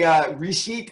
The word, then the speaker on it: Reshit: And the way Reshit is spelled, you all understand why I turned that over to Harold.